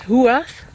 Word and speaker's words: Huath: I'm not 100% sure about the pronunciation, but what I found mostly is Huath.